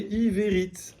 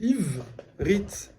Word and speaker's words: Ivrit: Par exemple, si je lisais avec E, ça ferait Iverit. Et si je fais un E muet, ça fait Ivrit. Donc, j'entends que la consonne.